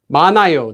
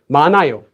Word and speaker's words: 많아요: Notice here we have this letter at the bottom, followed by an empty consonant. So all you do is you don't need to pronounce it. You don't say 많아요. 많아요 would sound really weird. You just say 많아요.